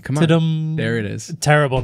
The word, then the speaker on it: Tudum: Netflix Tudum, is that how you You pronounce it? got to do it correctly. Come on. Tudum.